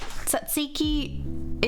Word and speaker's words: tzatziki: Tzatziki is that yogurt sauce.